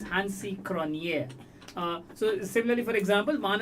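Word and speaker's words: Hansie Cronjé: way they should be I remember a certain hansi cronie first he was pronounced he himself said no it's hansi kronier uh so similarly for example some of the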